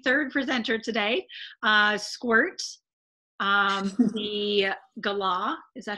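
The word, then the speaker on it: galah: do have a third presenter today squirt the gala is that how you pronounce that yeah so the law that is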